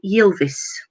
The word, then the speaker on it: Ylvis: And number 15, The Fox, What Does the Fox Say, was by Ylvis. It's spelt Y-I-V-I-S.